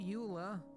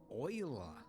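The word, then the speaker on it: Euler: a utilities rotation rotate not Ula oila that yes I know they went with the weird pronunciation I think it was a Frenchman right could be German doesn't matter same same right just to annoy all the Europeans um anyways rotate Oiler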